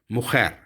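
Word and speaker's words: mujer: यहाँ पे भी जे को हम खे की तरह प्रोनाउंस करते हैं, मुखैर।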